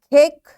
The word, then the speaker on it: cake: Now you will see the first, it's short sound, that's why it's ant, cat, cake, bake. Bossy E rule applies. E is silent, A will give its long sound, cake and bake.